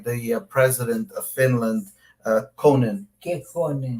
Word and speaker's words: Kekkonen: Finlândia, Cabral, e foi recebido pelo falecido presidente Kekkonen.